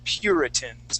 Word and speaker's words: puritans: uh clean right um so when we pronounce this word uh we we put sort of an i before that u and that's how we we we make that u or sound pure puritans okay so let's uh